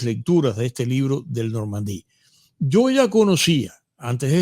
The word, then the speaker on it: Normandie: Por supuesto que Normandí se pronuncia en francés, pero yo ahí te lo dejo, ¿no?